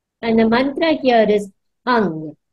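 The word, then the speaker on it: Heng: beautiful Orange light and the Mantra here is hung h u n g hung it's written as h e n but we pronounce it as h u n g so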